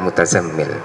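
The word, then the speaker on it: المتزمل: Itu dua ulama tersebut mengatakan tidak muzammil tapi mutazammil bidhari ta, dengan membunyikan tak yang sangat jelas, ya ayyuhal mutazammil alal asli.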